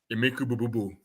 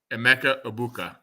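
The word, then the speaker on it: Emeka Egbuka: Rattler, Spencer Rattler, Olave, Shaheed, and Emeka Bububu, like Rob Gronkowski would say. No, Emeka Ibuka.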